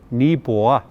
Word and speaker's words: Neepawa: Proper pronunciation, Neepawa, which in reference or in translation basically means there's a lot of something, i.e.